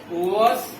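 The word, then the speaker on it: worse: बैड, वॉस, वॉस्ट। र को थोड़ा सा कम बोलेंगे क्योंकि पहले वोवेल आ रहा है, इसलिए आर को हम लोग थोड़ा सा साइलेंट वे में निकालेंगे।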